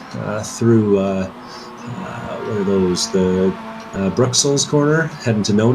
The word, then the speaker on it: Bruxelles: Going on Google Translate in a second to get the correct French pronunciation of that. I don't trust you. Bruxelles.